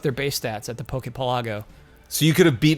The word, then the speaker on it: Pokepelago: Because of archipelago? How do you say archipelago? Yes, archipelago. So Pokepelago. So Pokepelago, yeah, that makes sense.